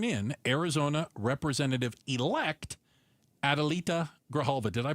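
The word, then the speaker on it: Grijalva: Why do you think House Speaker Mike Johnson hasn't sworn in Arizona Representative Elect Adalita Graalva? Did I pronounce her name properly?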